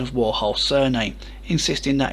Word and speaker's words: Warhol: next track and bowie deciding to correct his pronunciation of warhol's surname insisting that it's warhol before strumming a